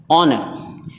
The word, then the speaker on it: honour: یعنی سائلنٹ رہتا ہے، جیسے آنر، HONOUR آنر، اسے ہانر نہیں پڑھیں گے بلکہ آنر، یہ ایچ خاموش یعنی نہیں پڑھا جائے گا۔ آنر عزت۔ آنیسٹ ایماندار۔